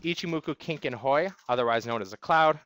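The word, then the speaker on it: Ichimoku Kinko Hyo: about the ichimoku cloud officially pronounced ichimoku Kink and Hoy otherwise known as a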